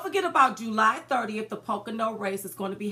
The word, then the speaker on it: Pocono: now you told me how to say it Pocono Pocono why do I want to say something else I don't know why you want to say something else but it's Pocono don't forget about July 30th the Pocono Race is going to be happening in Pennsylvania